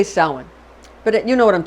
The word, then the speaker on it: Samhain: It looks like it's spelled Samhain, but it's actually pronounced Samhain. Samhain. It's spelled like Samhain, but we say Samhain.